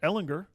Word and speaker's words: Ehlinger: on the clock for Ehlinger which by the way I wrote it out on Twitter l ed gender there you go a legend to get it it's a hard G though according to hard